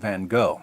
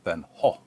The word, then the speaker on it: Van Gogh: sanity of Dutch painter Vincent Van go or van or van H or van goof depending on where you're from and how far you want to deviate from the authentic American pronunciation according to Mclean van